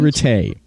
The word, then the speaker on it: Ratte: about retay retay me and stephanie were talking about i was asking her is like how do you pronounce her last name and she said it's pronounced for tay it's french awesome yeah i i